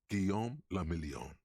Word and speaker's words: Guillaume le Million: Guillaume le Million. Revachol. So I guess we're in the city of Revachol. And one thing, Guillaume le Million. If it doesn't rhyme, you're not pronouncing it right.